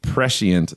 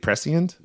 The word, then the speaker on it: prescient: The letter appears eerily prescient. There's another great prescient. Prescient. Let's say prescient. I was going to say that's a great word. Either way, either pronunciation, and indeed it had history.